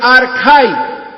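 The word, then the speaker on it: ἀρχαί: La palabra griega se pronuncia archai, que significa, escuche esto, principio, origen, comienzo.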